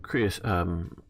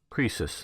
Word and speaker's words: Croesus: after the defeat of Chris Croesus that's how you pronounce it at least how you do it in English and 546 BC after